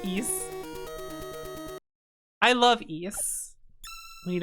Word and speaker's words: Ys: Yeah, it's ease.